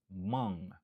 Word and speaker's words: among: Li genyen 2 syllabes. Stress syllable lan li sou deuxième syllabe lan. Among.